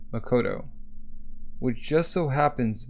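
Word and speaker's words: 誠: The kanji for truth on the coat is pronounced Makoto, which just so happens to be the same character used in the given name of author Makoto Yugamura.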